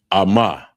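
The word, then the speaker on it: אמא: And the next one is mother and it's pronounced amma.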